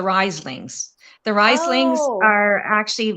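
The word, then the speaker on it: Rhyslings: It's not the Rieslings, it's the Rieslings.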